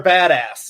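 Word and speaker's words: Biadasz: then and check out Tyler how do you pronounce his last name B Aatish ok yada Tyler badass yeah so well what do you think about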